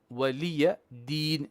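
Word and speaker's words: ولي دين: Lakum dinukum waliya din liya din. Okay. Lakum dinukum waliyadin. Waliya is short.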